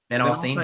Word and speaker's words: Van Alstyne: And in Van Alstyne, am I saying it right? Van Alstyne, yeah.